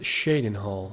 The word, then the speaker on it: Cheydinhal: of quality in the Shaden Hall Community it's pronounced Shaden Hall all right the count andelle andaris is a